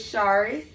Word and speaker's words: Sharis: My name is Sharis. If you don't know how to pronounce it, I always tell people it's like shark, drop the K, add in is, Sharis, and then it's like Riss, Sharis.